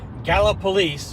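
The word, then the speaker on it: Gallipolis: Florida the charging in Gala police which is I'm told how you pronounce it must have gone faster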